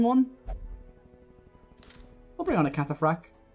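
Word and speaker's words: cataphract: I'll bring on a cataphrag is how you pronounce that yeah it'll bring our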